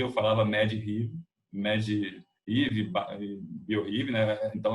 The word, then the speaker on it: medRxiv: Então, hoje a gente está vendo muita revisão sistemática com meta-análise fazendo busca em medRxiv. Hoje eu descobri, quando eu fui preparar, que como se pronuncia, eu falava medRxiv, bioRxiv, né?